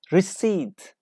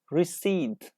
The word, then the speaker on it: receipt: say listen to me receipt receipt so we don't pronounce P we say receipt ok receipt is a